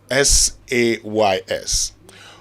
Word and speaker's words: says: Sage ride is very simple how do you pronounce s-a-y-s s-a-y-s over the weekend I had some persons pronounce